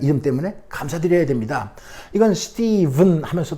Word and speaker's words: Stephen: 요 PH라는 철자의 발음이 V로 나네요. 참요 어렵습니다. 스티븐 대부분 초성 첫소리일 때 PH는요 이렇게 F로 나잖아요. phone, 핸드폰 F로 나는 거예요. 대부분 philosophy 구절할 때 phrase. 하지만 가끔가다 V로, 이거 가끔가다도 아닌 것 같아요. 제가 볼 때는 유일한 것 같습니다.